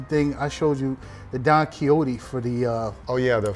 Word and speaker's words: Don Quixote: Yeah, it's Don Quixote.